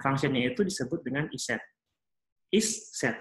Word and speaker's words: isset: Isset kayak gitu ya bacanya, tapi digabung langsung jadi isset.